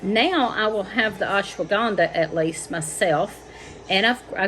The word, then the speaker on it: ashwagandha: of the names correctly i do know that ashwagandha that is how you pronounce that i've also got the um chatavari